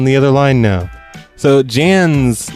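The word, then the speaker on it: Jaan: other line now so Jan's name is it's spelled J a a n so it's Jan I think I'm gonna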